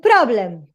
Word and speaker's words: problem: Let's go with problem. Pro, short o, problem, blum, schwa here.